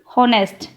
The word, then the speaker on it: honest: Honest, here h also silent, then we fill n, honest, or sound of o, and o is vowel, then we fill here n.